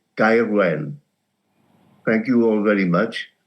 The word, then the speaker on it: Gaerwen: Various permutations have been tried. As a South Walian, I would call it Gaerwen.